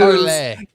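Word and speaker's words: Parler: were it's parlay. It's spelled parlor.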